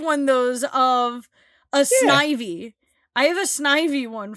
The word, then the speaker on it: Snivy: Nope, it's Snivy. Ew. It doesn't. If it was pronounced Snivy.